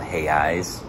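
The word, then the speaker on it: reais: i've been calling it rios but actually it's called hey eyes that's the way the r is pronounced this is like an get these hundreds big old fish we got a 50.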